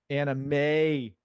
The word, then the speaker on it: animation: Animation. Yes. You got to say it like that. Animation. May. You got to emphasize on the May.